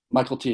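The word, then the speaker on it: Mykelti: Michael T. Yeah, it's not McKelty, it's Michael T. Oh, it looks like it should be McKelty.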